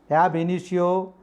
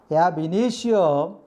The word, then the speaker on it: ab initio: Ab initio, the stress, word stress, we put the word stress initio, second syllables. From initio, second syllable we should stress.